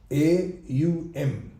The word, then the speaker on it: Aum: Om, the syllable Om, when it's pronounced as O-M, in English I'm saying. But when it is written, it has three fractional syllables. A-U-M. Aum. That's the actual right pronunciation.